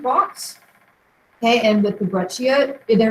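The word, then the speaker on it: breccia: pronounce it but this conglomerate and this is pronounced breia the two seed is a CH sound in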